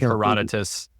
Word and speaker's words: Herodotus: I've read all of Herodotus books herodot books I don't know how to say it I I Herodotus in general is how it's pronounced but it doesn't it's